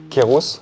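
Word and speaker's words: Kairos: Pour tous ceux qui n'auraient pas vu le spectacle, et pour que vous le sachiez, Kéros signifie un dieu grec. C'est un dieu grec, Kéros. Normalement, Kéros, ça s'écrit K-A-I-R-O-S, et ça veut dire saisir les moments opportuns.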